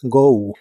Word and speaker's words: go: El verbo ir en el presente de inglés es go. Se pronuncia como si tuviera una u al final. Go, go.